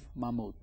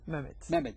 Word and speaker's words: Mehmet: number one chef as I mentioned is Chef Mammud. And and um uh did I pronounce it right? Memed me. Yeah. Memed.